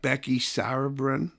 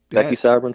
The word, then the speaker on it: Becky Sauerbrunn: At the fifth grade center, it's got Becky Sauerbrunn. Is that how you pronounce it? Yeah. Becky Sauerbrunn Field.